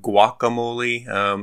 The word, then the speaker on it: Guacamole: that it's pronounced guacamole, like a W on the front.